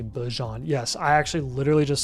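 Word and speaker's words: Bijan: Did you see that Bejon said that everyone's been pronouncing his name wrong and it's actually Bjon?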